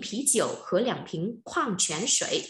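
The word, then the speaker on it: 矿泉水: Để đọc là khoang chén sợi. Từ này trong phần từ mới các bạn có đấy. Khoang chén sợi.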